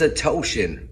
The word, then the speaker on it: Odishian: It's a Toshin. Rhymes with lotion.